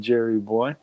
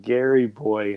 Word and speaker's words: Jerry Boy: Lone Wolf, JR, and Jerry Boy. What's up? Jerry Boy with a J instead of a G, but never mind.